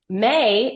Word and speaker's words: Mae: May, in fact, it's spelled MAE, is an acronym for Memory Assistant Experience.